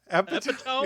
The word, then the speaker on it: epitome: Epitome?